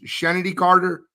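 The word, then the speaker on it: Chennedy Carter: Is it Shenedy Carter? You can help me out. It's Shenedy Carter. That's how I pronounce it.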